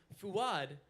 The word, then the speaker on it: Fuad: Palestine and I hear my name fuad pronounced correctly in the Arabic pronunciation for the first time f with a a gladle stop right so ultimately this musical